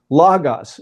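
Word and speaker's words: λόγος: But Omicron was like a short O sound. So actually proper pronunciation, which I might fail to do periodically, is logos.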